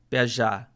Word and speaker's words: BH: BH, it's pronounced, it's short. We call Belo Horizonte BH for short. It's pronounced Beja.